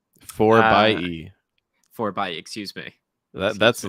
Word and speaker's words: 4xe: You know how they prefer to pronounce that name? 4 by E. 4xe, excuse me. That's a little bit out there to me, but yeah, 4 by E, not 4xe, 4 by E.